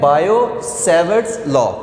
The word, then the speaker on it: Biot-Savart: capital डाला हुआ है अब याद रखिए की जब हम ये वाला नाम प्रोनाउंस करते हैं तो उसमें ये जो टी है ये साइलेंट हो जाता है ठीक है तो इसको हम फिर कहते हैं बायो सेवर्स लॉ ठीक है बायो-सेवर्ट्स लॉ हम